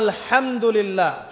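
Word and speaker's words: الحمد لله: আপনি পড়ছেন আল্লাহু আকবার, আলহামদুলিল্লাহি রাব্বিল আলামিন, এই তো আপনি পড়ছেন আলহামদুলিল্লাহ।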